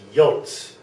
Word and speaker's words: J: This one here is pronounced yot. Yot. So I'll just spell something Y-O-T-E to get that down.